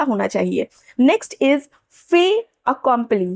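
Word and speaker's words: fait accompli: Next is फे अकंपली। फे अकंपली। फेट अकम्प्ली नहीं यहां पे टी साइलेंट होगा।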